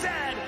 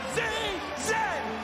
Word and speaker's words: Z: And it is pronounced Zed, not Z-Z.